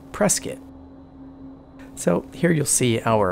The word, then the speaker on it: Prescott: to be prescott arizona that's actually spelled prescott which is something that threw me off when i first moved to arizona about 15 years ago but they pronounce it prescott so here you'll see